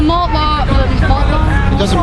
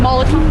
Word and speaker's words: Molotov: With the malt law, it's called Molotov. Molotov, thank you. I can't pronounce it.